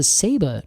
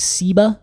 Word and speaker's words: Ceiba: I know we look at it and we think Ceiba, but it is pronounced Ceiba.